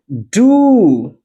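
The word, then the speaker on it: do: ओ से वह जो बड़ा ऊ होता है, बड़े ऊ साउंड के साथ हम जो बात करते हैं, वहां पर इसको हम लोग बात मैं आपको बताने चल रहा हूं। मैंने क्या बताया? बड़ा ऊ। जैसे एग्जांपल मैं दे रहा हूं। डू अब देखिए जरा यहां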